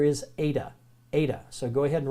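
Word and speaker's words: eta: but the word in the letter in greek is ada ada and it has a long a sound so in in greek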